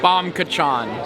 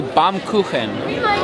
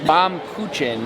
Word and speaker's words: Baumkuchen: Definitely not Bomb Kachan. How do you pronounce it? I think it would be Baumkuchen, which would be German. It's a German cake.